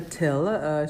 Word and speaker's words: Thill: your content so today we're speaking with Vanessa till she just clarified how her last name is pronounced originally I heard it's from Belgium your